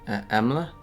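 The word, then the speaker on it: Emlagh: the U one emla okay so spell like this em l a g h but the GH is silent so that that that's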